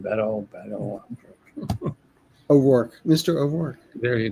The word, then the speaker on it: Beto: How do we pronounce his name? Beto.